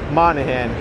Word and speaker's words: Moynihan: they go to new york city and they pronounce houston street as houston street because it sure likes the name mr looks like monahan so here's the bridge i crossed on the